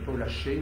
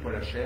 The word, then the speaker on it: Paul Haché: Alors, dans un premier temps, c'était Paul Haché, ou Paul Hacher, on peut le prononcer comme on veut, c'était la signature de